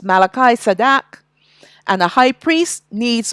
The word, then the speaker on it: Melchizedek: order of Malachi sadak that is Melchizedek that's the way how you pronounce it in English but it's Malachi sadak and the high priest